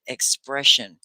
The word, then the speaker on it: expression: word really is okay expression i'm going to express myself and when i put an i o n s i o and it's shun can you all say